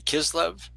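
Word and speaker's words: Kislev: It starts on different days on the Gregorian calendar but always starts on the 25th of Can you pronounce this for me? Kizlev K I know you did really good.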